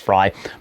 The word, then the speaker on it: Frey: May the current incumbent, Mayor Frey or Mayor Fry. I I somebody corrected me earlier. I think it's pronounced Fry.